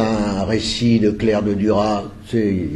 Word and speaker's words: Duras: Et Marie-Bénédicte Dithelme est une spécialiste de Claire de Duras, ou de Duras, il paraît qu'il faut prononcer Duras.